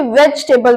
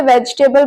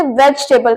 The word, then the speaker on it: vegetable: English नहीं नहीं वेजिटेबल हम इसे वेजिटेबल बोलते हैं सब्जी को इंग्लिश में हम वेजिटेबल बोलते हैं लेकिन इसे इंग्लिश में वेजिटेबल बोलते हैं इनफैक्ट मैं भी छोटी होते इसे वेजिटेबल बोलती थी लेकिन अब पता चला कि इसे वेजिटेबल कहते हैं सो वेजिटेबल इसकी राइट प्रोनंसिएशन है और इस वीडियो